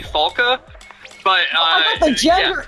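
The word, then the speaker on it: Falke: I thought his name was Falky. That's great. Falky? Yeah, I guess, so she is German. Maybe it would be pronounced actually Falka.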